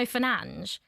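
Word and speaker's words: Fernandes: His name in Portuguese is Bruno Fernanch, but are we going to call him Bruno Fernanch? I don't think we are. We're going to call him like our the Englishized is that the right word version? Uh, which is Bruno Fernandez.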